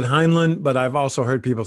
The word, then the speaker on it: Heinlein: how to pronounce it it's spelled like hind line and i've heard people pronounce it that way and that's why i